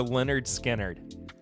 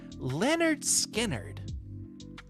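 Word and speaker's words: Lynyrd Skynyrd: beverage industry give me a break putting the phonetical the pronunciation for Leonard skinnard as Leonard skinnard approaches the 50th anniversary of its groundbreaking debut album pronounced Leonard skinnard God bless man the band announced the release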